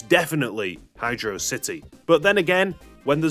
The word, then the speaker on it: Hydrocity: Ultimately, in this debate, I personally weigh down on the side of HydroSSity.